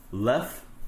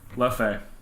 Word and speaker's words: Leffe: But, well, there are two ways to pronounce it. You can either pronounce it What French way. language is it? Well, it's a town in Belgium and an abbey. So you can pronounce it with the French or Dutch pronunciation.